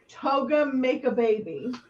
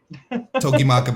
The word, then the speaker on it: Togi Makabe: Toga make a baby. Togi Makabe.